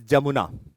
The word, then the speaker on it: Jamuna: Once Tista joins Brahmaputra, it is known as Jamuna. NCERT also mentions an alternative word by the base of pronunciation as Yamuna also.